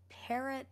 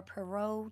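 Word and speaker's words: Parrott: is George and it's par PA or pero depending on if it's a French pronunciation it's p a r r o TT so it may be pero um for those of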